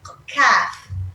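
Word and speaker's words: ك: heavy Qaf, Qaf from the throat, we have a light Kaf. We have a light Kaf. And this is letter Kaf. It's light, it's not heavy. This one's very heavy, okay? You have to pronounce it from your throat. And after the light Kaf, this is just Kaf, okay? Not very heavy.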